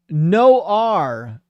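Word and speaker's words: Noir: No R is the pronunciation. No R. I'm so sorry. That's on me. I read so many people's names. It's hard to keep track of which ones don't get pronounced like the way they look. But no R says French for black.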